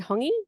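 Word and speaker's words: hongi: culture um um we hongy is how you pronounce it um touch noses and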